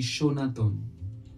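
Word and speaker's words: সনাতন: the word sir but the pronunciation of the word happens to be shaton sonan shaton shat suggest that the sh sound is perceived to be softer than the S sound and that is another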